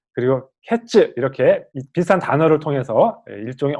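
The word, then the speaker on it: קֵץ: 이 끝이라는 단어는 여기 하, 캐츠 이렇게 되어 있는데 이 하는 정관사거든요. 그 끝. 그래서 이 단어만 보자면 카이츠 그리고 캐츠 이렇게 비슷한 단어를 통해서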